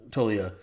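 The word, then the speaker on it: Toglia: I'm just honestly just going to call him Tolia because I really feel like I heard somewhere that the G is silent.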